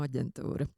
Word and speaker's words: aģentūra: Jaunatnes starptautisko programmu aģentūra. Agentura. Yeah, I always call it Agentura because I'm still a bit with the Dutch pronunciation.